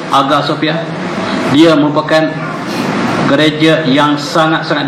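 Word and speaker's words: Hagia Sophia: agak Sofia hadiahnya Iwe bacanya agar bukan ayasofya agar Sofia dia merupakan gereja yang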